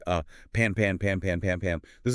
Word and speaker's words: Pan-Pan: It does sound a bit similar, which is why pronunciation is key. It's pan pan.